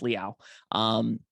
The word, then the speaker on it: Leal: I believe it's pronounced Leal.